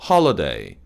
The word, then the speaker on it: holiday: 그리고 마지막으로 holiday, holiday, 홀리데이가 아니에요. working holiday는 한국식 발음이고 holiday, working holiday 이렇게 발음하는 게 맞습니다.